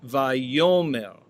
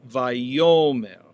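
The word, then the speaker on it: וַיֹּאמֶר: Now, oftentimes in the Hebrew scriptures, when we have the vav consecutive of this verb, it appears as vayomer, vayomer, with the accent on the penultimate syllable, vayomer.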